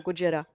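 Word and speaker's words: ゴジラ: from the Japanese movies, Godzilla or Gojira, as it's pronounced in Japanese.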